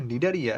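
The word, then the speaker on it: Cnidaria: শুরুর দিকটা একটু ঝামেলা নামটা হচ্ছে নিডারিয়া কিন্তু উচ্চারণের ক্ষেত্রে মনে হবে যে এটা তো এন দিয়ে শুরু হওয়া উচিত কিন্তু দেখবা যে এটা আসলে এন দিয়ে শুরু না এটা সি দিয়ে শুরু হয়েছে প্রথমে একটা সি তারপরে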